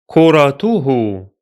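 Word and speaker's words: كُرَتُهُ: Kuratuhu, kuratuhu, kuratuhu. The T sound is followed by an H sound, tu, hu, and both have dhamma vowel.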